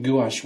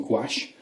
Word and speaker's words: gouache: On the market, there's a lot of different white paints out there, be it watercolour white, even gouache white or gouache, depends how you pronounce it.